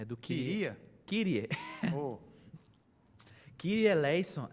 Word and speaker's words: Kyrie eleison: A pronúncia do grego é Kyrie eleison, Christe eleison e Kyrie eleison. Só que a igreja é latina, né? A igreja romana, católica. E aí, quando usou o latim, aí ficou essa pronúncia latinizada, Kyrie.